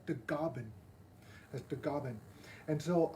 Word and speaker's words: Tagaban: i'm also part filipino my last name tagaban in the philippines is pronounced as the gobin as the goblin and